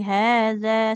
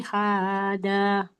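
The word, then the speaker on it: هذا: Qala ya Maryamu anna laki hada. Laki haza. Laki hada. Haza. Hada. Za. Ya. Ujung lidahnya ke ujung gigi seri atas.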